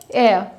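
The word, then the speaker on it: heir: सबसे पहला है एयर। यहाँ पर आपका जो H है वो साइलेंट रहता है, और एयर का मतलब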